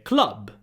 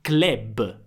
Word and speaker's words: club: In inglese sarebbe club, in italiano diventa club. Club, quindi la u diventa e non so perché.